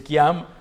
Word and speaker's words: Kayum: Si scrive Kayum, ma si legge Chiam, software dietologico, l'abbiamo chiamato così, insomma.